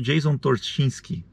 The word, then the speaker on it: Torchinsky: notícias e tudo mais, tem um cara chamado Jason Torchinsky, acho que é isso que ele, como é que é? Acho que é assim que se pronuncia.